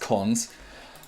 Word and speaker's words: cons: operation is colon dot we call that that's pronounced cons and cons represents an